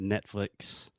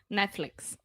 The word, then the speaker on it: Netflix: wanted to mention is in the second syllable the second part of the word we're saying flicks so this is the e sound it's not Netflix Netflix cool so all together